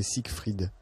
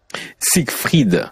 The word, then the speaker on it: Sigrid: Sigrid, il faut prononcer Siegfried. Siegfried. Ouais, c'est important de prononcer le F.